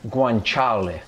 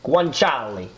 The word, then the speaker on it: guanciale: Guanciale. Guanciale.